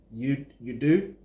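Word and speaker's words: Udue: So there's The Truth, then there's Why featuring Adekunle Gold, then there's Stupid, then there's how do you pronounce it? U-D-U-E. You Do, featuring Johnny Drill, and there's Oh My, then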